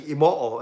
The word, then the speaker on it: Imoo: Actually, Imoo is how you say it. You pronounce every syllable in Japanese.